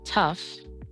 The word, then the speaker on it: tough: Rough, tough, and cough. In these words, the g h sounds like an f sound.